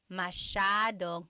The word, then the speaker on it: masyadong: Masyadong means a lot. So the S-Y-A is a sh sound.